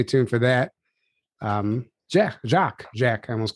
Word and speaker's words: Jock: lot of people uh they don't believe that my name's really jock so um they call me josh usually they i say my name's hi i'm jock they go hi josh i mean there's not a lot of people with that name it's a scottish name my dad was named